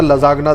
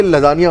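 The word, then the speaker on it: lasagna: मैंने एक बार लजानिया order कर दिया। अच्छा, मुझे लजानिया बोलना नहीं आता, मैंने कहा था लजागना दे दे भाई।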